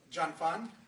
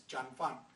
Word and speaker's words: Jun Fan: you notice on the show it says uh John fan not Jun fan a lot of people might